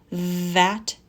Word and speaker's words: that: Work on pronunciation of TH as we practiced last week. Thinks is voiceless, that is voiced.